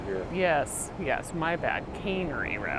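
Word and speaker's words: Cannery: this road called uh I believe it's called caner row I believe it's pronounced canery oh cane furniture here yes yes my bad canery R well we're at the aquarium and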